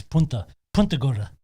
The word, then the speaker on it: Punta Gorda: It's Punta Gorda.